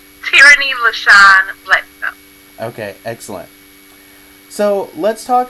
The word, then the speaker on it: Teirrany L Bledsoe: And can you say your full name for me so everyone Yes, gets the correct it's pronunciation? Teirrany L Bledsoe.